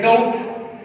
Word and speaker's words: doubt: ये बोला है जैसे डाउट, DOUBT, तो इसके अंदर बच्चों देखें बी, इसका यहां पर ये खामोश है, साइलेंट लेटर है बी, यानी हमने कहा कि बी is usually not pronounced before T.